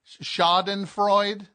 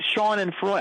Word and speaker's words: Schadenfreude: Schadenfreude? What? Well, that's how they pronounced it, but I thought they meant Sean and Freud.